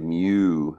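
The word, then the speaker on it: μ: we use this symbol and we say it mu that's how it's pronounced and if we use that symbol so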